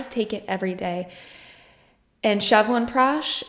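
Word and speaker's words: Chyawanprash: it every day and chevan prash that's how you pronounce it shevan prash um trying to see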